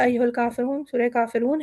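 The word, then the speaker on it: كافرون: ये सूरह मुबारक है कुल या अय्युहल काफ़िरून, सूरह काफ़िरून है। हम इसे देख लेते हैं एक मरतबा। बिस्मिल्लाहिर्रहमानिर्रहीम, कुल या अय्युहल काफ़िरून, रा हमारा मोटा है और रून काफ़ी लंबा हो जाएगा।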